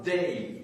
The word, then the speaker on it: dey: Vous aviez à Tunis un bey, B-E-Y, et vous aviez à Alger un dey, D-E-Y, un D, un B, un D. C'est pour être audible que j'ai les prononcé en distinguant donc les voyelles.